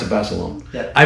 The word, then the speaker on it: Basilone: You pronounce it Basilone. Yeah. I pronounce it Basilone.